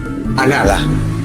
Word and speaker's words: Alá: Alá.